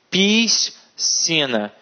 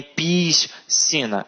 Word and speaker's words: piscina: Então elas falam nascer, piscina. E não é nascer e nem piscina. É piscina e nascer.